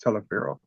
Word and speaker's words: Taliaferro: Booker is spelled Taliaferro, but it's pronounced Telefero.